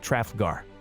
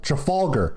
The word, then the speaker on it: Trafalgar: at the battle of trafgaar did you see what we did there yeah it's called you mispronounced truffle trafalgar is what you did truffle gar really okay for all